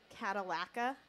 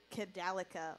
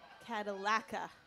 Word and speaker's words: Cadallaca: I don't know where or whatever, but if that DJ's in the audience, we pronounce her name Cadallaca, like the car, not Cadallaca, like the band. Cadallaca.